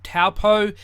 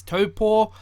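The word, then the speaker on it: Taupō: in the video i will keep saying like taupo even though the correct pronunciation is topo but i'm just saying the pakiha way because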